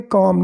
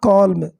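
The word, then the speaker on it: calm: तो यदि हम, वी यानी हम, यदि हम शांत रहते हैं, काम, इसको पढ़ेंगे काम, नॉट कॉल्म, एल साइलेंट है, ओके।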